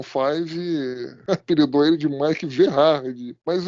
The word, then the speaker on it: Vejar: Na verdade é Mike Verhar, tá? Ninguém, eu sei que ninguém chama ele assim, mas é, é forma que se pronuncia o nome dele. O J tem som de H em inglês, né? Então é Mike Vharard.